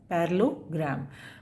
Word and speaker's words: parallelogram: पैरेललोग्राम, double L जो यूज़ हो रहा है दिस इज़ साइलेंट, उनको नहीं बोलते हम पैरेललोग्राम।